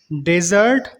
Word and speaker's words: dessert: Fourth pair word है डेजर्ट एंड डिजर्ट। DESERT डेजर्ट, इसका मतलब है रेगिस्तान, सैंडी एरिया। और दूसरा है डिजर्ट, DESSERT डिजर्ट। डिजर्ट इज a kind of sweet dish we use after meal.